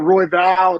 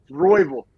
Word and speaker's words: Royval: and apparently it's not Roy Val not Roy V royville sounds like how like an Oklahoma like football coach would say it but apparently that's how